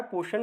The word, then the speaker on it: पोषण: तो इसमें जो है आपका ये साइलेंट हो जाता है, ये साइलेंट हो जाता है। अब देखिए POSHN, तो ये होता है पोषण का एक्चुअल में, ठीक है ना।